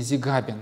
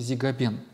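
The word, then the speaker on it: Зигабен: по евфимий узи габену в некоторых книжках вы встретите акцент на другом ударение зига бен но правильнее по греческому тексту он все-таки зига бен дается ссылка на слова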